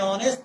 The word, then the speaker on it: honest: And honest, why? H is silent here. Honest. It's not giving the sound of H. It is not honest. It is honest.